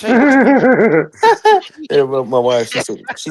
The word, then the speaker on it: Fontecchio: Fontacchio? Fontacchio? Fontecchio. Yeah. Fontecchio, there you So go. Simone Fatacchio, he said Fontacchino. It's Fontecchio.